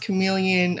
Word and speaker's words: CM3leon: did, they created, and I think this is pronounced chameleon. I mean, you guys know these companies, they put letters and numbers and we don't know how to pronounce it. So it's spelled CM3LEON. So I'm thinking they're trying to call it chameleon, but it is a